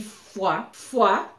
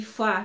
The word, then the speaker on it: Foix: Dans la ville de Foix, na cidade de Foix. Todas as palavras Foix, Foix, Foix, Foix, Foix têm a mesma pronunciação, mas se escreve diferente.